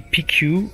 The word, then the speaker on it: Piceu: On a donc la chance d'être avec la prononciation correcte, Miss Darcy Piceu ou Piceu.